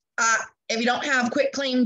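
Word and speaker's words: quitclaim: a quick clean deed not quick claim i know a lot of us mispronounce it and sometimes it falls out of my mouth incorrectly as well but it is a quit claim deed i want you to think i quit you divorce me and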